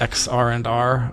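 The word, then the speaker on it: xrandr: say x-rander but now that i know it's pronounced x r and r i i have to say sort of like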